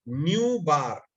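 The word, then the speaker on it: ν̄: देते हैं, तो इसको इसको हम प्रोनाउंस ऐसे करते हैं, न्यू, और ऊपर डंडा लगा दिया है तो बोलते हैं बार, न्यू बार, न्यू बार।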